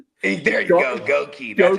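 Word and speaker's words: Goedeke: Gookie, dude, that's a up name. Goi. There you go. Goki. That's how we're supposed to pronounce Goki.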